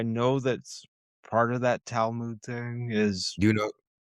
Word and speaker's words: Talmud: Is that a Telemon thing or Telemoon or however you pronounce that? Talmud? Talmud, yeah.